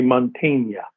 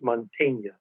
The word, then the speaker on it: Mantegna: The proper Italian pronunciation really would be Mantegna. The E sound is an A sound, and the A sound is an A sound, so it's Mantegna.